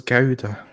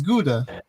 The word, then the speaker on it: Gouda: dame is it good i thought it was goda i don't know how it's pronounced it's gouda you're from oxford you're